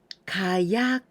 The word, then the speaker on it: 火: Gunpowder, 火薬, 火薬. The first kanji, this symbolizes fire, 火. But here we pronounce onyomi ka, like 火曜日, ka.